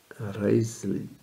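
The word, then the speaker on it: Wriothesley: father of their son henry rutsley in his day pronounced as reisli the third earl of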